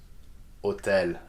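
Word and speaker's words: hôtel: H is not pronounced in French. So how do you think we're going to pronounce these words? Hôpital, that's right. So you just read it like there is no H at all, okay? What about this one? Hotel, yes, same principle.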